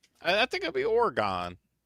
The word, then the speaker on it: Oregon: Did you just Google how to pronounce Oregon? I just I'm just It's Oregon.